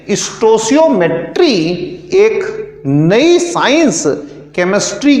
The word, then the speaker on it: stoichiometry: बहुत जगहों पर इसे स्टोकियोमेट्री कहते हैं। स्टोइचियोमेट्री और स्टोसियोमेट्री ये इसका करेक्ट प्रोनाउंसिएशन है। स्टोसियोमेट्री, this is the correct pronunciation.